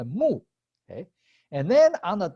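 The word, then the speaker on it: 木: based on the image, the character of tree, pronounced mu.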